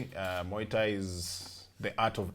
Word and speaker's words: Muay: Muay Thai is different. I'll learn the pronunciation by the time we're done. Think of the former president, Muay. Muay. Yes, just Muay. You just say Muay Thai.